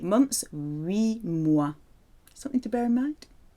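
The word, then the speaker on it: huit: 8, 8 ans, 8 months, 8 mois.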